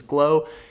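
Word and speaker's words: Gleaux: he swears by it it's g-l-e-a-u-x g-l-e-a-u-x I believe I hope I didn't just spell that wrong but his name is glow he makes good videos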